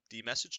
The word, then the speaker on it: dmesg: we're going to do man D message to get some background on it it's spelled dmesg and hit enter right